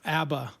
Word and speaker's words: ABBA: All right, You have to pronounce it like a Midwesterner, ABBA.